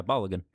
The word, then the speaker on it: Balogun: Yeah, Balogun.